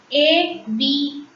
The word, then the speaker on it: avion: A will be pronounced as A in French. A-V-I-O-N. Avion. Repeat. Avion. A is pronounced as A. I is pronounced as E. O-N is pronounced as ON. So, A-V-I-O-N is pronounced as avion.